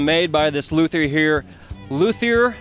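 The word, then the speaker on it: luthier: by this Luther here luier is that how it's pronounced that is correct okay and and your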